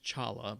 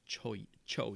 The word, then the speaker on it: cholla: c-h-o-l-l-a by the way it looks like it's pronounced chala but it's cho cho yeah yeah right next to quesadillas yeah and